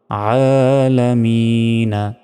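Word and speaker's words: الْعَالَمِينَ: টান হবে নুন জবর আলামিনা এখানে যদি থামি তাহলে এখানে তিন সেকেন্ড টেনে পড়তে হবে শেষে এবং শেষ অক্ষরে সাকিন দিয়ে উচ্চারণ করতে হয় উচ্চারণটা হবে তখন আলামিন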